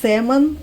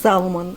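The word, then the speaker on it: salmon: И также вот они говорят, американцы говорят семон на красную рыбу, а наши говорят салман. Вот так как пишется салман. Это неправильно. Семон.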